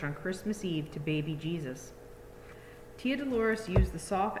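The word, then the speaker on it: Jesús: was born so actually in spanish jesus name is pronounced jesus because the j's are like ages i haven't been doing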